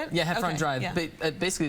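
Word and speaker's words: Heffron Drive: Drive is that how you say it yeah hefron drive but basically it's the street I grew up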